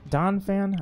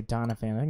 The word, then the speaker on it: Donphan: remember when Doniphan donphan oh geez now I can't remember I think I said it wrong for years I used to say Donna Fanning is just donphan phanpy and Don Payne